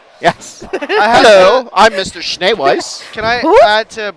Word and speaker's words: Schneeweiss: Schneeweiss. Schneewise. Weiss. Schneeweiss. We wrote it out phonetically.